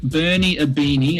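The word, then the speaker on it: Bernie Ibini: hand look it up on the internet people Bernie aini and it's aini is spelled IB i n i Bernie aini scored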